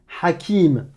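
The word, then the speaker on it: حكيم: Si tu me prononces que la voyelle, si tu me dis A comme Hajj, Alouf, Aram, Halal, Hakim, là c'est pas bon.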